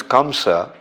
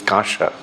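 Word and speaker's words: kaṁsa: much as the metal known as kamsa uh Bell metal it's not uh anyway the pronunciation actually is kasha is turned into gold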